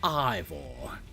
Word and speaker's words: Ivor: I came here to duke it out with Ivor or Evore. Is it Evore? Ivore? I don't know. It's pronounced Ivore.